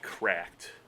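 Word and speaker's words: CRKD: Um the company Cracked. Uh CR KD is how it's spelled. Spells cracked apparently.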